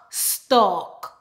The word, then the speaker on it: stalk: St, ok, stalk. W, ok, walk. Salmon, salmon. Or with some accent, they actually pronounce the L, salmon.